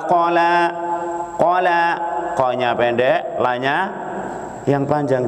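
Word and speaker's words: قَلَى: Gara-gara qanya panjang. Ya, harusnya ma wadda'aka rabbuka wa ma qala. Qala, qanya pendek, lanya yang panjang, jangan dibalik. Qanya yang panjang, lanya pendek. Artinya jauh berbeda. Qala ya murka, ma abghadaka.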